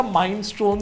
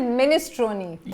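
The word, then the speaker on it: minestrone: अच्छा, इस सूप का नाम पढ़ने के बाद सबसे पहले हमने इसे बोला था माइनस्टोन सूप। अगर आपके दिमाग में भी वही आया तो गलत है, बिकॉज इसका एक्चुअल प्रोनाउंसिएशन है मिनेस्ट्रोनी।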